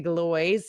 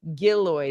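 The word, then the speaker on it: Gillioz: is another midweek matina at the Galo gillo sorry I said it wrong the first time it's the gillo theater uh at two o'clock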